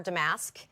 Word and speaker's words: damask: see more of our damask. Do you say damask or damask? I say damask. I'm sure I say it wrong. But no, it's actually both.